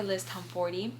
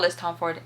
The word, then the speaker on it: Tomforty: Windy City series by Liz Tomforty, which, you guys, I met her at a signing and I've been pronouncing her last name wrong this whole time. It's not Liz Tomford, it's Liz Tomforty.